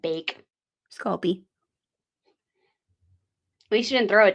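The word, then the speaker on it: Sculpey: little side thing guys there is no tea in sculpy no sculp p e yeah it is spelled this way s c u l p e y it's not sculpt e sculp sculpy we cringe every time we hear it yes so if you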